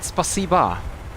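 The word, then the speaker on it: спасибо: So, isn't it spasiba? Or is it just written with an O, but it's pronounced as an A at the end?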